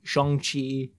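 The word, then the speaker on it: Shang-Chi: for you know it wasn't pronounced shang shong chi shang chi free guy captain marvel i'm gonna watch the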